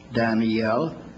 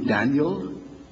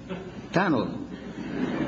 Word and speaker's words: Daniel: But you know that the Hebrew word Daniel has three syllables, Daniel. The English word at least two, Daniel. But Moody pronounced it with one, Daniel.